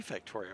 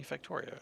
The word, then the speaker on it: Factorio: that bring you Factoria they bring me factorio well that's nice of them thank you bringing me Factoria okay well I've always pronounce that wrong what does wub mean